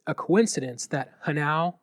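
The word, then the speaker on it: hnau: Do you think it's a coincidence that Hanau rhymes with Tau?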